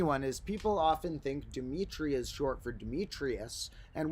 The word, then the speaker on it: Dimitri: When people hear my birth name Dimitri, they often think it's short for Demetrius, and it's turning a 3-syllable name into a 4-syllable name.